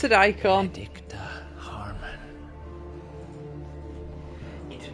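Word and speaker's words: Eikon: the strength to conjure their icon he pronounced it icon adct Harmon he did not command to have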